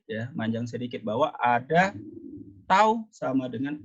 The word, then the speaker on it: tau: Nah, ini bacanya tau ya. Jadi tanda Cak T bergaya itu adalah tau.